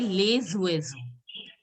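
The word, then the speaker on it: les oiseaux: Now, le wezo, now you have to link the words. Since this word begins with a vowel O. So you have to say les wezo.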